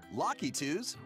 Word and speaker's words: Lakitu: Goombas, Koopa Troopas, Boos, Lakitus, and other familiar foes are also here. So that's how it's pronounced, Lakitu? I always called it Lucky.